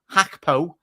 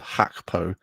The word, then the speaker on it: Gakpo: Luke the main man hackpo I think is the better Dutch pronunciation I'm scarce so it's